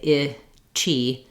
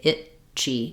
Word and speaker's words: itchy: it this way because I don't say I chi I have to say it Chi it Chi um but the chi